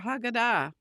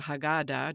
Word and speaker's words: Haggadah: And it is no accident that these words appear in the central portion of the Passover Haggadah, or the Haggadah, depending on which way you want to pronounce it, a text designed to shape identity through the recitation of historical narrative.